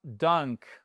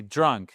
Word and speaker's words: drunk: Et c'est pas dunk, OK? Dunk. Non, c'est drunk. C'est pas la même chose.